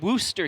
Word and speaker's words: Worcester: welcome to the new home of Shine 2019, Worcester, Massachusetts. That's how we pronounce it? Yeah, I had to ask the bartender yesterday just to make sure I wasn't mispronouncing it. They call it Worcester here.